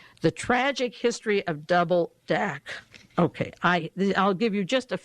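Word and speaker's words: Dacre: Now, there was an article in the London Observer, The Tragic History of Double Dac. The R-E is silent, D-A-C-R-E.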